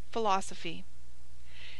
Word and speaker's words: philosophy: pronounced B walk talk pH has the sound of f as in philosophy pronounced philosophy NG has two sounds